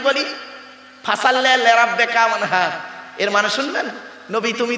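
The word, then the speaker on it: وانحر: এই গলার ভিতর থেকে হে এটা উচ্চারণ করবেন, হাই হুচি, হাই হাব্বাস নয়। ফাসাল্লি লিরাব্বিকা ওয়ানহার।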